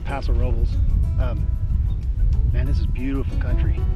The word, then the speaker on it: Paso Robles: It's pronounced Paso Robles.